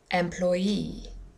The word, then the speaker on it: employee: employee H this time it's the last syllable the third one which is a little bit unusual but we have the stress in the last syllable quite often if our noun ends in double e like employee or referee another example for the